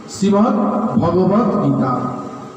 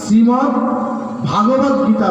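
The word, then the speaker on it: শ্রীমদ্ভগবদ্গীতা: অর্জুনকে, সেই কথাগুলি হচ্ছে শ্রীমদ্ ভগবদ গীতা। একটু মন দিয়ে শুনবেন। আমাদের মধ্যে অনেকেই উচ্চারণ ভুল করে থাকে। বেশিরভাগ লোকের মুখেই আমি শুনতে পাই শ্রীমদ্ ভাগবত গীতা বলে, কিন্তু কথাটি ভুল।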